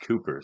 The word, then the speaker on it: Cowper: Well, this is a hymn by William Cowper, which is actually pronounced Cooper.